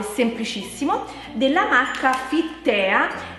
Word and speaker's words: Fittea: Penso che si pronunci Fit Tea, però comunque il sito, cioè se volete andare sul sito, si chiama Fittea, proprio scritto così, Fittea con due t.it, e là si possono comprare queste cose. Comunque si pronuncia Fit Tea ed è buonissimo, praticamente